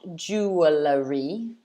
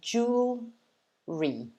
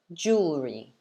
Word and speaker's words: jewelry: that just remember that this word has two syllables okay so it's not jewelry it's not ju like lots of syllables it's just two so it's jewel re jewel re jewelry jewelry so it looks